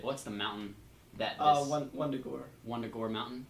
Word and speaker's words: Wundagore: What's the mountain that this Wundagore. Wundagore mountain? It's probably Wundagore because Yeah, German. there's a W. But yeah, So I pronounce it Wundagore.